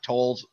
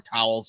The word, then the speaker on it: Towles: announcement coming yesterday that Patrick tolls from or towels I can never remember how to pronounce his name TOS it's tols I have a feeling